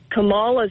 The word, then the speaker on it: Kamala: Kamala's family, her husband, all the Clintons, all the Obamas, they pronounced it Kamala.